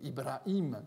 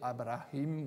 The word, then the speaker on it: Ibrahim: L'hypothèse la plus intéressante, c'est que le Ibrahim, qui est lu comme ça par la lecture actuelle du Coran, en fait aurait été Abrahim ou Abraham, donc une prononciation différente qui se rapprocherait du syriaque.